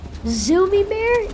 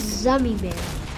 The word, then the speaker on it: Zummy Bear: Zoomy Bear is Zummy Bear. Zummy Bear. After all these years, I didn't know. Yeah. You didn't tell me. Zummy Bear, like Gummy Bear.